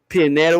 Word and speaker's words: Pianeta: the dude's name was okay pianeta what the name like it's a rhyme with pinata ceremonies you're a matter